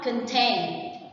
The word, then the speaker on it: contain: The next one, contain. Contain is a verb and the stress is on the second one, contain.